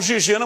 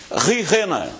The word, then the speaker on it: Gigena: Alguns falam Gigena, mas a pronúncia dele correta é isso, ele me falando, né? Porque ele esteve aqui com a gente na época que jogou. Rijena.